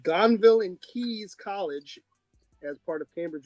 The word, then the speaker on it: Caius: It's called Gonville and Keys College as part of Cambridge University.